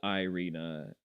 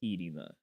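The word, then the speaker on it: Iryna: Zaruska is is the It's not Ireina, it's not Arena, it's Edina is the proper way um of pronouncing her name.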